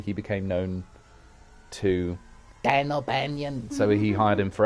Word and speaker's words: O'Bannon: became known to dan o'banion so he hired him for alien dan albanian i just love that h.r giga couldn't pronounce dan o'bannon so he just keeps calling him dan albanian he was a ship